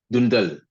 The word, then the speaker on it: Doundale: What is, and I want to make sure I'm pronouncing it correctly, Doundale? Dundal.